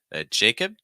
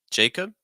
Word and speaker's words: Jacob: to keep that open Jacob Jacob so you have an a sound followed by a short I and I Jacob Jacob